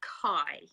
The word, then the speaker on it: Kai: This is Beulah Kay, writing as Jambiah Kai. She said it's pronounced like sky, so it's Jambiah Kai.